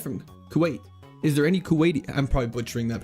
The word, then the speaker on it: Kuwait: Is there any Kuwaiti? I'm probably butchering that pronunciation.